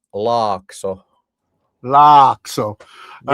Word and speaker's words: Laakso: But in Finnish it's pronounced Lock.